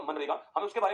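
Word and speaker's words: MGNREGA: चाहिए और वो है मनरेगा। तो आप लिखिए, फटाक से लिखिए, लगाइए मनरेगा हेडिंग। शायद नाम तो आप सभी ने सुना होगा इसका, मनरेगा। इसमें जी साइलेंट है ना, इसमें जी साइलेंट होता है।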